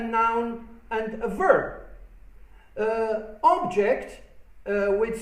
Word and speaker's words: object: can see and touch object with stress falling on the last syllable is a verb meaning to disagree with something again uh present as